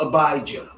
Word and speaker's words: Abijah: of judah after reborn we have abiya sometimes called abijah when we say it